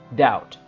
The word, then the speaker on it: doubt: I doubt about it this B is mute we don't pronounce this P so we pronounce this world like doubt okay this expression is